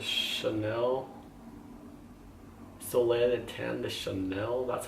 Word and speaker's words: Chanel: Today I'm actually going to cream contour with the Chanel Soleil de Tan, the Chanel, that's how you pronounce it.